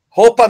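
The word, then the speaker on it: Hoppe: Roupa, não é isso? Roupa que se pronuncia corretamente em alemão.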